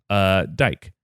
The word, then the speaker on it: Dike: It's so traditionally, with Greek pronunciation, the E at the end is it is always said. Okay. And so it's spelled like dike.